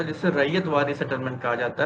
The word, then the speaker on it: ryot: वो जो RYOT रैयत लिखा होता है ना, वो ब्रिटिश प्रोनाउंसिएशन है, क्योंकि अंग्रेज वगैरह प्रोनाउंस कर नहीं पाते थे। तो उसको रैयत को वो लोग पढ़ते थे रॉयट, तो वो RYOT हो गया रॉयट। जैसे कानपुर का खानपुर हो गया, रैयत का रॉयट हो गया, है ना, RYOT।